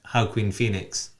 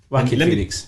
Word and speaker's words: Joaquin Phoenix: Joaquin as in like whack-a-mole.